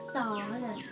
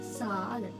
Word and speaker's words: Zahlen: Z වල S කියන sound එක තමයි. ඒ කියන්නේ මේ තියෙන්නේ Zahlen. Normal. Zahlen.